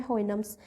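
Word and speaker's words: Houyhnhnms: होइगनम्स, होइगनम्स, होइनम्स, होइनम्स, होइनम्स याद रखना, इसकी प्रोनाउंसिएशन है होइनम्स।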